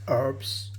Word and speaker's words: herbs: country everybody call herbs herbs the H is silent didn't know that before and then you sprinkle